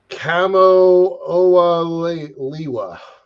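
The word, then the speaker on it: Kamo'oalewa: It's Hawaiian, so it's hard for me to pronounce it, but it's Kamo-Oa-Liwa.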